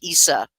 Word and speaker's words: Isa: It sounds like the word ice, Isa, but it also, and it means ice.